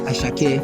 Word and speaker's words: Asake: And personally, I love AJR and Rebellion and Asake. Yes. Did I pronounce it right? Ashake. Ashake, Sorry.